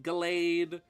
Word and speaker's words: Gallade: I know it's probably pronounced Gallade, which makes me think of a scented candle. I've always pronounced it Gallade because it's like the name Galahad, like one of the Knights of the Round Table.